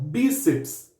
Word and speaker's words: bíceps: Próximo, bíceps, termina com PS. Todas as paroxítonas terminadas com PS recebem acento, por isso bi é acentuado, bíceps, ok?